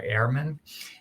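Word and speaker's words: Ehrman: is Bart and I think his last name is spelled EHR m- an Airman and there's number of books that you could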